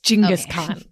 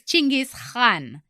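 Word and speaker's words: Chinggis Khan: world Pia who is jingus Khan many might know him as Jenis Khan or genis Khan but his real name is chingis Khan It's not k h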